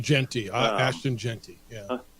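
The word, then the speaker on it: Jeanty: the country and whose name I'm about to mispronounce is Gianti. Genty, Ashton Genty.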